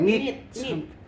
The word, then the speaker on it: knit: knit. Knit. Silent K. Knit.